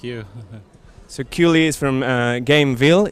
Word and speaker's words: Gamevil: securely is from uh gameville is that how you pronounce it right not game evil not evil yeah it's gameville so um for reviewers